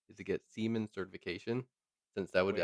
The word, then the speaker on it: Siemens: Okay, Siemens is pronounced C plus Siemens. Not men's, muns.